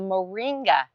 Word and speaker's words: Moringa: cam and we today are talking about a moringa tree did I pronounce it correctly yes Moringa Moringa yes and